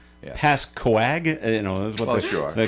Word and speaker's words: Pascoag: Pascoag, you know that's what they're calling it. Some people say it Pasco without the uh without the G. And that's a mistake.